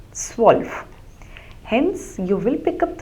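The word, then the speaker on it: zwölf: that's word that you hear that is the pronunciation so s 11 is elf and 12 is SW so remember the two dots the uml on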